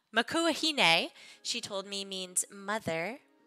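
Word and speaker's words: Makua Hine: way that you guys intended them to be pronounced so Makua Hina makua hane a she told me means mother in Hawaiian and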